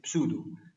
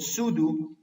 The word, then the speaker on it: pseudo: krtv this is called pseudo first order pair this is spelled as pseudo to do some teachers or something soon as they say pseudo the P here is silent this is called pseudo first order reaction pseudo